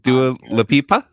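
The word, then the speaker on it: Dua Lipa: How do you pronounce it? Du leipa.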